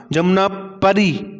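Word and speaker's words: जमुनापारी: जमुना जमुना परी ये सही नाम है। ठीक है? पु नहीं है। पूरी नहीं है। परी है।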